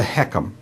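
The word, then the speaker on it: HECM: own and then there's one called the heckum that's spelled h-e-c-m it's a it's an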